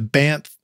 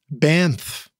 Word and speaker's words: Banff: i pronounced that right the banff banff i can't say it right you pronounce bamf better than you pronounced doyong in i can i can say it right if i hear it right um i feel like i'm sneaking on the letter n m into banff it's a particular word